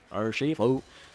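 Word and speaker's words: Urushifu: Urishifu. Very strange way to say it. Urishifu. Okay, cool. There you go. That's how you say it.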